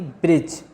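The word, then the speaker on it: bridge: example है जैसे कि ब्रिज यहां पर पिम्स में दी साइलेंट है इसी तरह जज में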